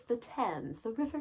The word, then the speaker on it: Thames: When you see it, you want to pronounce it as Thames. That's not correct. It's the Thames, the River Thames.